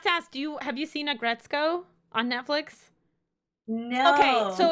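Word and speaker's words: Aggretsuko: I have to ask, have you seen Agretzko on Netflix? Okay, so No. it's Oh wait. Agretsuko. Yes. yeah, Grisuko. Yes, I Yeah, have. yeah, yeah, yeah, yeah, yeah. Sorry, I pronounced it.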